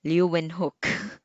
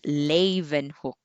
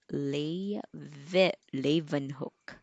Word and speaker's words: Leeuwenhoek: as lay okay so the stress is on the first syllable lei levan hook okay leaven hook anyway so we have